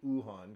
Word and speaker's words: Wuhan: of a lab in Wuhan which is actually ohan because the W is silent but anyways uh whether